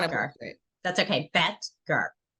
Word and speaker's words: Boettger: Boettger. Boettger.